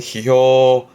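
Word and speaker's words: 批評: 발음은 히효 히효 뒤끝자네 론자 이게 평론 발음은 효론 효론 뒤에 하나 붙여 볼까요?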